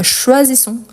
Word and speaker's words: choisissons: Pourquoi ici son? Parce qu'il y a un double S. Mais S entre voyelles, il y a les sons de Z. Donc, choisissons, choisissez, choisissent.